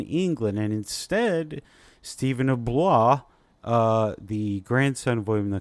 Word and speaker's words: Blois: always throws me off, because Blois. Why do we need so many syllables in there? Why? Yeah, Stephen of Blois. He's a vampire. Bleu. I mean, basically the emotional support letters in French.